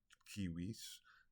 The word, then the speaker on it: civis: Civis is city, or is citizen. Civitas is city. Civis, or Kiwis, is citizen. And civilis, or Kiwilis, depending on how you pronounce it, classical or medieval pronunciation, is civil.